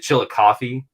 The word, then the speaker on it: Chillicothe: Is it Chillicothe? Am I pronouncing that correctly?